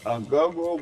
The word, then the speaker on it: agogo: So this here is the agogo bell. Agogo bell?